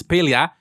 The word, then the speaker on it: Palia: the same mistake but now I know it's pelia which will take me some time to get